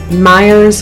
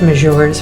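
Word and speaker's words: Meijer: Probably Target or Myers, or as we like to call it, Mejors, from the way it's spelled, which is kind of like a Walmart-ish type thing here, but very much nicer.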